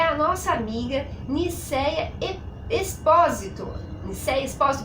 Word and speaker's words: Nilcéia Esposito: Nicéia Espósito, pronunciei correto, Nicéia? Pronunciou. Nicéia Espósito.